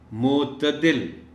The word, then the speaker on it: معتدل: صحیح تلفظ کے ساتھ۔ معتدل، تے کے اوپر زبر کا خیال رکھا جانا چاہیے۔